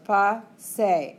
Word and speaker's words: pase: Two syllables, pase, accent on the second to last.